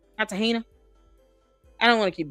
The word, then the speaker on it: Cartagena: I'm just say fat joke because I I someone showed me told me how to pronounce his like Kartahena. Kartahena.